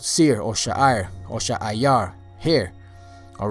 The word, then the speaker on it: Seir: All right, the next name that you should know is Seir or Sha'ayar. Sha'ayar. You know, there's sometimes it's spelled Sha'ir, but in most places I saw it spelled Sha'ayar. Sha'ayar. You know, so whether you say Sha'ir or Sha'ayar, the word Sha'ayar means